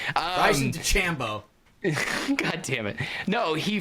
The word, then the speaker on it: DeChambeau: It's Bryson DeChambeau. Please fucking Whatever. say it right. Bryson DeChambeau.